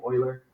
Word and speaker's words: Euler: euler yeah that's how you say his name euler e-u-l-e-r is euler uh leonard euler in 1727